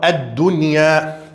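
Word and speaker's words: الدنيا: Aqui temos a letra nun, depois temos a letra ya. Nesse caso, deve pronunciar nun e deve pronunciar ya. Deve falar ad-dunya.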